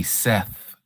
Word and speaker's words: Seth: So, we know it's it's That's why I said I know we say Seth in in English, but there is no uh th sound in Hebrew.